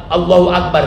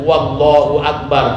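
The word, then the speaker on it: الله أكبر: dalam kitab kita ini gak boleh pakai wau bukan wallahu akbar tapi Allahu akbar baik ini naik naik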